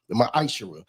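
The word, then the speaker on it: ma'aser: The book of Malachi 3:8-10 means t 10th means 10th in Hebrew and it's pronounced misher 10% of every penny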